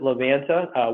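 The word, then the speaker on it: Livanta: And yes, we pronounce it Levanta.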